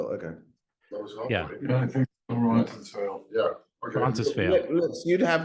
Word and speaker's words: Roncesvalles: I'm trying to pronounce the name of the street. I always watch it. Wenceslas. Is Thank it you. Wenceslas? No, Rob got it. What is it, Robert? Roncesvalles?